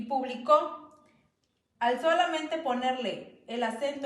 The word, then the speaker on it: publicó: Por ejemplo, en la palabra público y publicó, al solamente ponerle el acento en diferente vocal, cambia su significado.